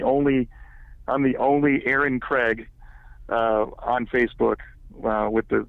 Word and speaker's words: Kreag: Last name is K R E A G. Okay. Pronounced Craig.